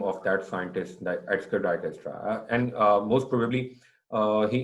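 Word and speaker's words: Dijkstra: the second name isra j is silent over here Destra algorithm why we call it Destra because the scientist which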